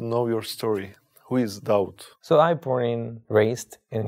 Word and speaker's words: Daud: it was david just i changed the pronunciation david to doubt david and dowd is the same person